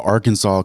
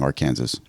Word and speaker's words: Arkansas: no law that actually says it's prohibited from mispronouncing it but there the Arkansas code actually does Define how to pronounce Arkansas